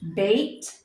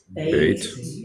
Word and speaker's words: Beit: Beit, Beit. B as in boy, Veit, Veit.